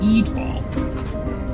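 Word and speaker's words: Étoile: It's Eatwall. You should change your name. Everyone asks to pronounce it. But it means star in French.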